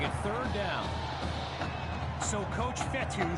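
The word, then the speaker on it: Fetu: third down so coach vettel spelled f-e-t-u for the longest time i was pronouncing it coach feda like feta cheese so let's just say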